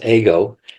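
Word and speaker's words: εγώ: simply means I and it's actually pronounced ago in Greek uh and they equated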